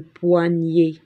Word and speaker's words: poignet: il s'est cassé le poignet entendons donc on écrit poignet le son est avec ed à la fin on ne prononce pas le thé nous avons coupé deux